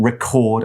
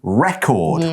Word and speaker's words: record: Here we're using record as a verb. It's pronounced differently from record, which is the noun, so be careful there.